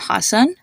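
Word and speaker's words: Hasan: can see this a sound in the name Hassan which is the name of the comedian Hassan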